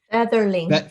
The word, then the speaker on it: Featherling: the romance category it's the cops ferrington fear featherlings featherling sorry my bad that's okay pronunciation not my strong suit uh featherling book